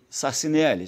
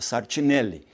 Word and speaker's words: Sartinelli: casou com a irmã de Antônio Sassinelli, Sartinelli, né? A pronúncia certa, Sartinelli.